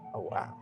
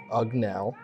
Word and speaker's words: Ughwow: So earlier this year you released your EP Ughwow. Did I mispronounce that? You mispronounced the easiest word. Oh, I did? Is wow. Oh, wow. Oh, sorry. I misread my handwriting. Yeah. It's oh, wow.